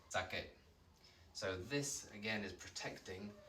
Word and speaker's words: saque: Just looks a little bit weird, but remember the QU also gives us that hard C sound. Think of the word que. It's almost like a K sound, yeah? Kicking K, as they say in a lot of primary schools, or at least used to. So sake, QU. This is another common mistake that people try and pronounce the QU like queen in English. It doesn't make a qu sound, it's just like the letter K, sake.